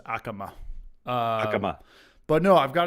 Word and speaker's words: Yakima: I got the It's Yakima. It's Yakima, not Yakima. It's actually the Y is silent. It's just Akama.